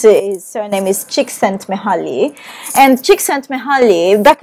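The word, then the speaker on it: Csikszentmihalyi: designing games his name is very difficult to pronounce his surname is chick sent me holly and chick sent me back in the 1990s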